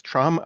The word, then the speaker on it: Trame: It's pronounced, by the way, as Trame because it's supposed to be a French word for frame or framework.